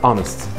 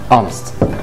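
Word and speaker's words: honest: عندنا اونست. اونست. اوكي. ساعه اور. اور. غير كده فطبعا في الاتش عندنا بتنطق ه.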